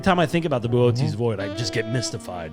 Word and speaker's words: Boötes: It's the largest void we have ever found in space, the Boötes void. We had to look up how to pronounce it before Yeah, the show. Boötes.